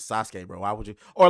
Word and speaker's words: Sasuke: else say narut just like some people say Suzuki and I'm like that nigga's name is Sasuke bro why would you